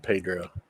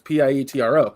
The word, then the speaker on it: Pietro: I swear to God, he said Pedro. I said a T because I had the word spelled in my name. It's Pietro. I got that, but I was mispronouncing it.